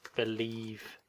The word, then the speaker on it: believe: Try to get the V sound, believe. V.